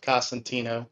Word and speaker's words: Cosentino: my name is costantino everybody puts an n in it but it's constantino did i say it wrong